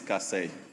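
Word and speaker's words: Kasei: The name is Cass.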